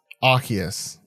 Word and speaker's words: Arceus: Let's talk a little bit about Pokemon Legends Arceus. I think is now how we pronounce it. Arceus, I think is how I was incorrectly pronouncing it for some time there.